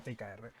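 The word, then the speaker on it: TIKR: Se llama ticker eh t I K R. TKR, o sea, de hecho se suele pronunciar TKR.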